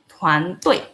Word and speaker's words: 团队: Tuan Tui. Kalian bisa baca di sini ya. T itu dibaca dengan TH. Sedangkan D bacanya dengan T. Jadi Tuan Tui.